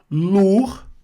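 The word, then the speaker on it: lourd: Lur, que é pesado, não pronuncio o D final.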